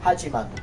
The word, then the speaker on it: Hachiman: Hachiman.